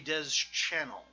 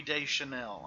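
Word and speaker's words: Deschanel: isn't a clone of Zoe Des channel Zoe Zoe Des Chanel I know you guys don't like the wrong pronunciations of names so there you go there is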